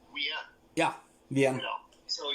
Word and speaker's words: Wien: It's just like in Vienna, they don't say Vienna, they say Wien.